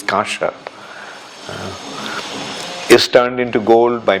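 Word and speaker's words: kaṁsa: much as the metal known as kamsa uh Bell metal it's not uh anyway the pronunciation actually is kasha is turned into gold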